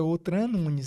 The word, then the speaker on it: Outra Nunes: né Outra Nunes até a forma pronúncia correta é outra Nunes né porque é um nome português e na verdade outra